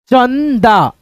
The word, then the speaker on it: चंदा: ठीक है, जैसे यहाँ पे देखो अंक, अंक, चंदा, चंदा। ठीक है, इस बिंदी को हम लोग न पढ़ते हैं, चन, च न दा, चंदा ऐसे करके।